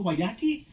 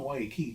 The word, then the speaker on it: Guayaki: It says it on the can how to say it, but people will still tell me, "Oh, Guayaquil." I'm like, no, Guayaki. No, Guayaki.